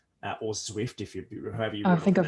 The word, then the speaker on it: Zwift: Another great example is a cycling app, which is called Zwift, or Zwift, however you.